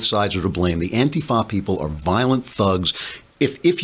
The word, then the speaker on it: Antifa: And not, and also, of course, the now they call them Antifa. They put the accent on the wrong syllable. It's Antifa now beating up people in